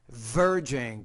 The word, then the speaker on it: verging: Verging. Pronounce that V with a little more vibration.